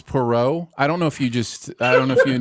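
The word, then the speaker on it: Poirot: flying at you which has nothing compared it's Perot I don't know if you just I don't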